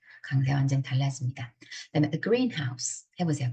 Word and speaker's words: greenhouse: 그다음에 a greenhouse 해보세요. 발음해보세요, 여러분. 여러분이 발음하시는 게 제일 중요해요. a greenhouse 하면 온실이죠, 온실. 우리 비닐하우스, a greenhouse. 근데 a greenhouse 그러면 초록색 집입니다.